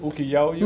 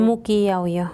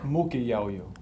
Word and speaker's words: Muquiaoyo: ¿Cómo se dice? ¿Uquiaoyo? Muquiaoyo. Muquiaoyo. Sí. ¿Dije bien? Sí, correcto. Eso está en la sierra peruana, ¿no?